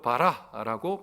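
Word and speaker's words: ברא: 여기서 히브리어로 창조하다라는 말은 히브리 말로 바라라고 발음합니다.이 바라 어디서 나오는 줄 아세요?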